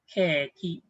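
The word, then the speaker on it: ケーキ: Okay, but this one it will be pronounced. Let's have a line on top. We are saying now keki. Okay, keki.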